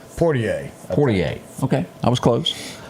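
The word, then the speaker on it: Poitier: And then we would also lose Sidney Portray. Yeah. You know how you say it? Portier.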